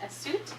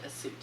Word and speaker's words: Assuit: So the proper pronunciation of this cloth we're going to talk about is Assuit. Just like the city in Egypt, Assuit.